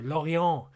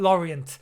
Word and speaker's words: Lorient: Lorient. Yeah, say it correctly. Not Lorient.